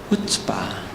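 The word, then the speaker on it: chutzpah: 앞에 C를 발음하지 마세요. C를. 그러면 이제 발음이 좀 쉬워지죠? 후츠바.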